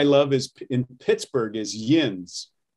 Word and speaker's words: yinz: is in pittsburgh is yinz yen's i haven't even known that i didn't know that one they tend to spell it y i n z and it comes